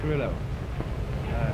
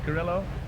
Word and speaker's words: Carrillo: Carrillo. Did you notice that one of them pronounced Carrillo and the other Carrillo? The Lambs Club in New York, they pronounce it gorilla.